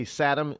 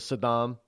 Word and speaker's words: Saddam: George Herbert Walker Bush used to say Sadam instead of Saddam well because when you